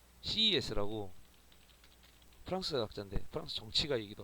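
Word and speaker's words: Sieyès: 뭐 CES라고 프랑스 학자인데 프랑스 정치가 얘기도 하고 이 사람은 뭐 CAS 이렇게 읽기도 한데 저는 CES라고 읽습니다.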